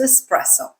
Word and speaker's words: espresso: Is it espresso or espresso? This one is actually a little bit tricky. So the word is Italian, and technically the way to say it correctly is espresso, okay?